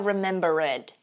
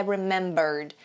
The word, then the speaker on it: remembered: Nesse caso, a gente não vai falar remembered, tá? É remembered, termina com esse som de D mesmo, bem leve.